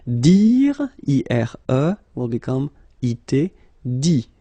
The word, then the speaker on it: dit: Dit. Okay, phonetically, same thing here, you don't pronounce the final T.